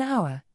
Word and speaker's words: hour: For instance, an hour, here, the H is silent, so it sounds like the word begins with O, and we use an.